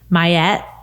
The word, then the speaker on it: MYET: so funny is it's a super like easy mayet when you say it like it's not like you're not like how do you pronounce it or how do you do that